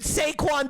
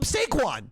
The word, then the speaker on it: Saquon: sequan okay everyone pronounce is it saquon Barkley I'm telling you the next time you guys see sequan you yell that out and see if he does not turn to look at you he does why does everyone else call him Sequon it's his test yeah